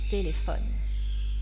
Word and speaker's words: téléphone: un ordinateur un ordinateur mais si la dernière syllabe est muette c'est comme c'est le cas de téléphone l'accent tonique et porté sur l'avant dernière syllabe un téléphone un téléphone parlons maintenant des homonymes